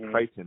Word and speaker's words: Crichton: It's spelled like Crichton, but it's pronounced Crichton.